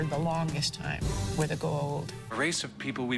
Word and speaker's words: Goa'uld: I was like, well, I called them the Gould, but they were like the Goa'uld.